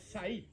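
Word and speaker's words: Saiph: Y esta es Said o Sai. Eso se escribe S-A-I-P-H, que traduce rodilla.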